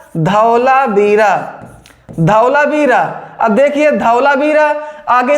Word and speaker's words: धौलावीरा: मोची को हो गया अब यहां से ये का साइलेंट है धू लेंगे तो ध होगा धौला बीरा क्या हो जाएगा धौलावीरा धौलावीरा अब देखिए धौलावीरा